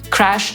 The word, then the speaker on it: crash: literą i jednym dźwiękiem Crash zapisujemy Taa wymawiamy przez te samogłoskę między polskim a e i Jego podstawowym znaczeniem